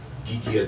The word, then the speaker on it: guillotine: he didn't invent it guillotine geekia i'm putting a friend's enunciation on it that's how it's pronounced uh invented the guillotine